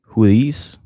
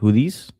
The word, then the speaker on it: Houthis: Houthis. That's how you pronounce it. Houthis.